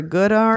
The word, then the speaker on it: Goddard: cool um then Saturday I know I'm pronouncing this wrong so The Goddard or good arm yeah Goddard Goddard School okay so The Goddard